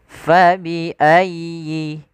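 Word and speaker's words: فبأي: Ini kesalahan biasanya membaca huruf ya yang dia berharakat tasdid tidak menekan huruf ya harus tekan untuk menyempurnakan daripada tasdidnya. Fabiayyi fabiayyi ala y-nya sempurnakan y ya.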